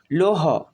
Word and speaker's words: লৌহ: লোহ, লৌহ, লয়ে ঔকার লৌ, হ, লৌহ, লয়ে ঔকার হ, লৌহ। অর্থাৎ লয়ের সাথে ওকার যোগ হয়ে লৌ হয়েছে আর হ সিঙ্গেল উচ্চারণ হয়েছে, তাই এর একসাথে উচ্চারণ হবে লৌহ।